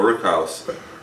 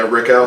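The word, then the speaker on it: rickhouse: can still taste it's like a rook when you walk into a rook house is that how you say it yeah Rick house Rick house it's different for sure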